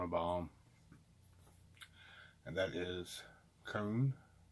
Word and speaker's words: Kühn: out all on a bomb and that is come it's K u h en but it's pronounced come it's the German word meaning both doing audacious